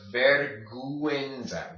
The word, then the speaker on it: vergüenza: This word right here is pronounced vergüenza, vergüenza, vergüenza. Say it slowly, vergüenza, then combine them, vergüenza, vergüenza, vergüenza. Okay, that's how you say shame in Spanish.